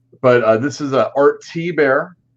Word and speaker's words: Thibert: But this is a Art T-Bear. It's spelled Thibert, Thibert, but T-Bear.